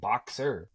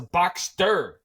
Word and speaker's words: Boxster: Why do you say Boxster? It's a Boxster. There's a T in it.